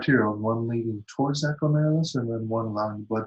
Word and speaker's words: glomerulus: they're spelled like this, or we pronounce it like this, glomerulus. Okay? So if you're at home and you're not too embarrassed to do this in your own room, say glomerulus, glomerulus.